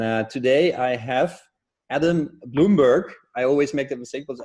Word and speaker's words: Blumberg: germany shortened it to bloomberg and i and and we pronounce it bloomberg because we're in the u.s and that's what we